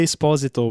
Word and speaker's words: Esposito: Eu vi uma entrevista com o Giancarlo Esposito, que inclusive ele pronuncia Esposito, porque é italiano.